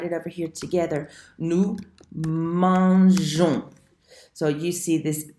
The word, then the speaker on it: mangeons: Nous mangeons. So you see this E that's right here. Again, it's for pronunciation. If it's not there, it sounds like mangon, and that's not nice.